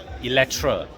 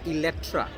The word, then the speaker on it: Eletre: It's pronounced As Electra. Electra. Electra. You got to, don't say it's not a Electra. Okay. Not Electra, not Electra. So the C or the N disappears. Yep. It's just Electra.